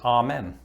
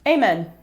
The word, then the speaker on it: amen: think i i mean growing up i always used to pronounce this ah men amen ah now this name has